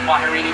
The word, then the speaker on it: kwaherini: And here in Harambe, the term we used to say goodbye, it is pronounced Kwaherini, but of course don't let this be goodbye.